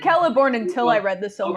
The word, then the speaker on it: Celeborn: in relation to galadriel i for years and years and years made that mistake that was pronounced celeborn and then somebody who knew a lot better than me was was like well wait a minute there's certain things that are going on in tolkien's languages that are consistent and check it out it's actually keller born and even peter jackson's